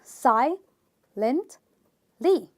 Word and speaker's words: silently: we have another word which is silently three syllables sigh Lindt Li which means this word which is three syllable ends with an L Y and therefore I will stress on the first syllable which is Sai and